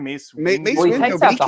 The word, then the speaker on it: Mace Windu: Mace Windu.